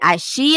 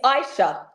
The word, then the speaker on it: Ishea: pronouncing your name right is it AIA AA it's Aisha Aisha I didn't even get it right either time Aisha Aisha on life coach sitting on the sofa with us today welcome Aisha oh hi Sonia thank